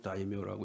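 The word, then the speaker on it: 大名: 그런데 그 고니시 유키나가 제2군대를 지휘했던 고니시 유키나가는 일본의 다이묘 중에 한 사람입니다. 다이묘는 이제 한문으로 하면 큰 대자 이름 명자 대명이라고 쓰고 이제 일본식으로 다이묘라고 읽는데요.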